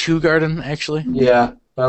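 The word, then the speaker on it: Hoegaarden: Shock Top good stuff Stella ho Garden it's pronounced who Garden actually yeah but I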